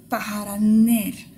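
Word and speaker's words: պահարաններ: Paharan, un placard, paharaner, des placards. Il y a bien deux N, il faut qu'on l'entende.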